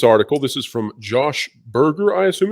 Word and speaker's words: Berger: This is from Josh Berger, I assume. Is that the correct pronunciation? Yes, that's how you say it.